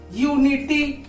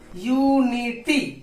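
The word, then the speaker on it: unity: यू देखिए, यू से हम लिखते हैं जैसे यूनिटी, यूनिटी, यहाँ पे इसका उच्चारण क्या हो रहा है, यूनिटी, यहाँ पे या हो रहा है ना।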